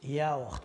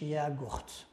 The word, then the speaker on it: yaourt: ياوخت ما كتنطقش ياغوخت اياوخت.